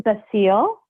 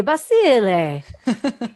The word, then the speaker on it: Basile: It is Basile. Oh, Basile. I knew I was going to get it wrong. I apologize about Or that. if you want to do it the correct Italian pronunciation, you can say Basile.